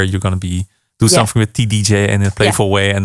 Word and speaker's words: TDJ: I guess that's how you say it, TDJ, the album.